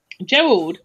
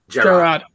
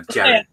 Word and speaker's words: Gerard: It's nice to meet Gerald. Is it Gerald? Gerard. Gerard, sorry. It's nice to meet Gerard. Or Jared. Depending how you pronounce it.